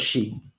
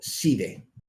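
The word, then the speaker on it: Sidhe: Después están los Shi, o Shide, o Shide, como quieras pronunciarlo. Hay muchas pronunciaciones para esto.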